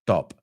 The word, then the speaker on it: stop: No es dos sílabas. Primero stop, stop. No, es stop. So, primero el sonido vocal es a, y luego no hay esa e delante.